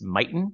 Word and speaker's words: Mighten: Nate, you want to chat about Alex Mighten? I hope I'm Yes, pronouncing that correctly.